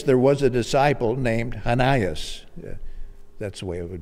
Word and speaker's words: Ananias: 10 in damascus there was a disciple named hanayas that's the way it would be pronounced we say ananias in damascus there was a disciple named ananias